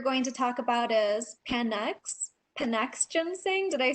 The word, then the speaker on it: Panax: All right, I think the next one that we're going to talk about is Panax ginseng. Did I say that right? Panax, it's pronounced.